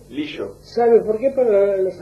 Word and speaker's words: Lillo: Peñalillo es el apellido, ¿cómo se pronuncia? Lillo. Lillo. ¿Sabe por qué? Para los argentinos Para somos Lillo. seístas, ¿no? Ladrillo, Sí, caballo. lluvia, Caballo. Por eso, sí, Lillo.